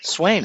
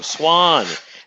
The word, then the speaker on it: Swain: Swain, right? No, Swan. spelled Swain, pronounced Swan.